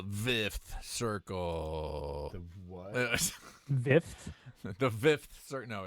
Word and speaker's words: Vth Circle: The Vth Circle. No, it's. I'm sure it's the Fifth Circle, but it's spelled VTH.